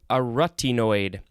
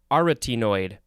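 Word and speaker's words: arytenoid: was it yesterday that i recorded these are a rutty noid no sorry aretinoid oh god i'm just going to move on it is spelled n o a-r-y-t-e-n-o-i d it is an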